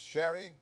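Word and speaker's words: 洒落: been allowed full scope share pronounced Sherry Reigns there Supreme share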